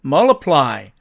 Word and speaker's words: multiply: 자, 그런데 이 경우도 을 트가 되니까 트가 사라집니다. 그래서 원어민들은 multiply 이렇게 읽기도 한다는 뜻입니다.